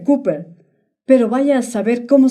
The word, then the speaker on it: Cooper: Se pronuncia Cooper, pero vaya a saber cómo se llama.